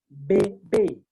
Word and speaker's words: bébé: And this accent, whenever you see it, it sharpens the E to be pronounced like A sound. Because when E has no accent, we say it is mute. It's not pronounced. It is E. It is E. But once sharpened, it becomes A sound.